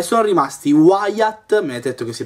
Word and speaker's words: Wyatt: era il il terzultimo protagonista e sono rimasti Wyatt mi avete detto che si pronuncia così quindi vi ringrazio e Shell Non